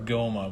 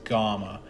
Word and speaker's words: Gohma: I don't know if it's pronounced Gamma or Goma, but I'm pretty sure it's Gamma. And it's spelled Gohma, so I don't know.